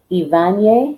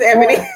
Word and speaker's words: Ebony: It's Ivanye. I believe it's Ebony. how you pronounce her name. Ebony. Mm-hmm. And I said the same thing too, but it's Ebony.